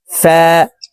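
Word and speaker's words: فاء: থেকে হবে আইন গাইন ফা উপরের দাঁত নিচের ঠোটের পেটের সঙ্গে লাগিয়ে ফা হরফের উচ্চারণ করব ফা কফ কাফ কফ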